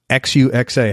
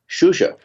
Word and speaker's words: Xuxa: a butcher this up Xu XA how do you say that xuxa xuxa yes and that's Chinese I would imagine no no Portugese okay xuxa great guitarists around